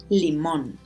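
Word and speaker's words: limón: pronounce that syllable stronger it's not Lehman it's liminal Le Monde mmm man oh that's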